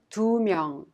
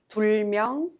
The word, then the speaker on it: 두 명: And 둘, 셋, 넷, with a counting unit 명, each final consonant drops. Thus, we pronounce 두 명, 세 명, 네 명, instead of 둘 명, 셋 명, or 넷 명.